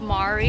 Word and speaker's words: Mari: We're spending all day today touring an ancient city of Mari. It's spelled like the name Mary, but it's pronounced Mari.